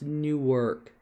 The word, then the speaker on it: Newark: But it's pronounced Newark.